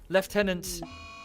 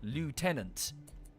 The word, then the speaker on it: lieutenant: have screwed it up lieutenant is relatively close to how it's said whereas the americans have pronounced it phonetically lieutenant when it's actually left 10 i don't know i can't remember sorry years ago i read about this so i'm sure someone can google it it's a french word that we've both